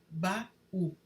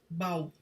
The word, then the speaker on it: baú: No hiato, ocorre uma lacuna na pronúncia entre as vogais, como em baú. Sem o acento, se fosse o caso, pronunciaríamos bau, como ocorre em bacalhau.